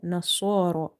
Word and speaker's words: نصارى: Swad vertical fatha saw, ra vertical fatha ra, nasara. Swad is from the musta'aliya letters, that's why we are reading it heavy. And ra is heavy because of having vertical fatha on top of it.